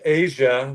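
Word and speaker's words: Aja: Um, I picked Asia by Steely Dan off the album Asia. It's spelled AJ A, not as sia.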